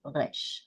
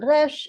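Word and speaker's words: ריש: bit hard to pronunciate because you should think of it as an R really, but it's not pronounced like the R in English with a tone, but it's pronounced as a guttural consonant.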